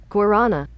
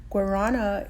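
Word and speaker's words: guarana: skincare products as well you say it like this Guana Guana is a climbing plant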